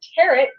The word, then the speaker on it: tarot: that is 920 tarot like teret pronounce pronounce t t like carrot only with a t the seven seven because